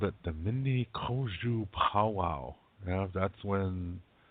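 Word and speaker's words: Mni: But it's not mini, it's mini. Yeah, mini, M-N-E. No, M-N-I.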